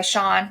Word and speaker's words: Sean: Was by seen by Sean, not Sheen.